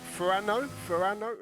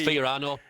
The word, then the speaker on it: Fiorano: Relic says, oh, I can't pronounce that. Ferrano? Is that? Right, we've got a cheater. I tell you, Andy's got some knowledge with the tracks there. Adam LB. It's Fiorano.